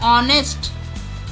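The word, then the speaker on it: honest: Honour, honour, H silent है। ऑनेस्ट, ऑनेस्ट।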